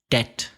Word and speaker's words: debt: Debt.